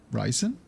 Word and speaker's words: Ryzen: megahertz M2 resin yeah ryzen recent ryzen is it ryzen I have no idea I only see it spelled I don't actually remember what people pronounce it as Bryson no no now it's risen there nothing nothing wrong